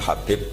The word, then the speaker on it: Habib: yang nulis Abi Abdurrahman Habib asulam itu di harakatnya kitab itu ada yang nulis khubb Yang benar Oh gigih yang benar itu bacanya habib habib itu asulami itu